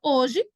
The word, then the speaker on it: hoje: comigo aqui na palavra hoje mais uma vez hoje eu tenho um dois três quatro tenho quatro letras mas o h é tudo ele não tem pronúncia ele não tem fonema